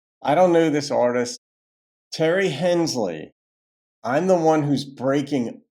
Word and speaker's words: Tari Hensley: And that's how you said it's pronounced, pronounced Terry Hensley, titled I'm the one who's breaking up.